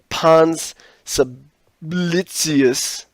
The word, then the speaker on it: Pons Sublicius: This is the Pons Sublicius, and that's pronounced correctly, in Rome.